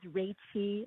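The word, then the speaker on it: Reichi: the opportunity to address you my name is ray t it's spelled r e i c h i and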